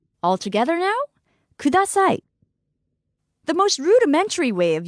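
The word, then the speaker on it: ください: in Japanese please is K broken down by syllable it's Al together now kudasai the most rudimentary way of using this phrase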